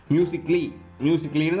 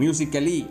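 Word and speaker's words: musically: மியூசிக்லின்னு தான் சொல்லணும், மியூசிக்கலி அப்படி சொல்லக்கூடாது. மியூசிக்கலி ஏக்கு சவுண்டு கிடையாது.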